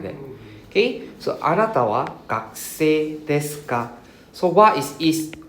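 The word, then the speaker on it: 学生: So kakuse, we don't pronounce the u, right? We don't say gakuse, right? Kakuse. The u is silent, huh? Kakuse.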